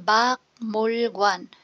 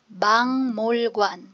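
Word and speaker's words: 박물관: siya ng per syllable Bak mul Guan pero ang tamang pronunciation bang mul Guan So ano yung nangyari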